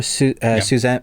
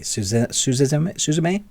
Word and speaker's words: Suzume: Suzanne. I can't pronounce it properly. Suzume.